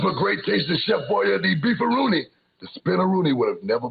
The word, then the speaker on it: Beefaroni: Yep, if it wasn't for great tasting Chef Boyardee Beefaroni, the spinneroonie would have never been born. Everyone's excited about the great taste of Chef Boyardee Beefaroni, and that's beefaroni, not beefaroonie.